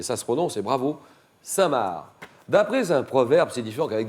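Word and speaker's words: Cinq-Mars: avoir conspiré contre Richelieu il s'appelle saintmar ça s'écrit le chiffre 5 trait d'union mars comme mars et ça se renomce c'est bravo saintmar d'après un proverbe signifant qu'avec des hypothèses tout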